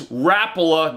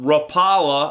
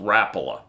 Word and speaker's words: Rapala: a freeloader yes that's Rapala not Rapala I used to say Rapala 2 but it's pronounced Rapala you put the wrong emphasis on the wrong syllable the freeloader is a